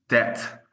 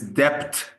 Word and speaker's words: debt: let's say uh uh when there's a B inside of a word like debt, and if they read it's depth, it's super hard for me to eradicate that.